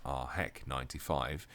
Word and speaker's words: AHEC95: I'm going to be honest, AHEC95, pronounced as RHEC95, isn't that great of a name in my opinion.